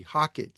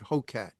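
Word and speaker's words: Hocatt: that can do it H O C a t t Hockett some pronounce it Hokatt and in Hockett it's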